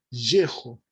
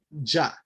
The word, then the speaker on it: Yeho: Que si el nombre del Eterno va al principio, es Yeho, no Ya.